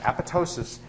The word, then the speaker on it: apoptosis: for the same reason the p is silent as it's silent in pneumonia um the the second p is is silent so apotosis is a cellular suicide